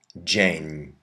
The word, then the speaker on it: dzień: You can put a D before your Z with a dot, Z with a slash, or ZI, and those say j, like our English J or soft G.